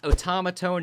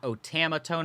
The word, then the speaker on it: Otamatone: a terrible start yes it's pronounced Otamatone not otomatone or automatone but you know you